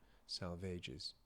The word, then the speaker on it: Salvages: The dry salvages. But I'm not being pretentious. It's there's a note here that says salvage needs to rhyme with a sage. So, try salvages.